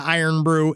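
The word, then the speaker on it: Irn-Bru: But now I actually it's pronounced Iron Brew.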